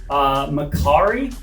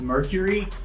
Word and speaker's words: Makkari: There is an Eternal named Makkari, Makkari, and they even mentioned that humans have always mispronounced his name as Mercury, that he's super fast and all of that.